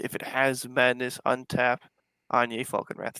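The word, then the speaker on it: Anje: So first commander here is Anjay Falconwrath It's for pronounced Anya.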